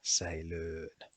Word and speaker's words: säilöön: And the pair of them is pronounced as Ö, as in säilöön.